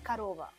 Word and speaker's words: korova: For example, you write korova, but you pronounce karova. You just change automatically O into A.